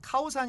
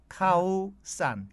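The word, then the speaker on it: ข้าวสาร: 어서 얘기라면 알아 듣습니다 서 카오산 이 아니라 정식 발음은 카우 싼 까오 싸라 앉아 그렇습니다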